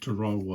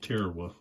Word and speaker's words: Tarawa: online and found a pronunciation there, and they pronounced it Tarawa also, not Tarawa.